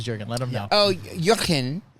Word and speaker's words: Jurgen: let them know oh jurin spelled like jurgen's lotion is my roomie and that's how he says it so I have